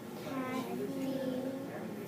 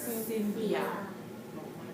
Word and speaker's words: Cynthia: Story by Kathy Freeman. Let's put those words together again. Story by C-Y-N, we pronounce that as Kathy. Sin, T-H, and I-A, yeah. So, Cynthia, and then R-Y, R-Y,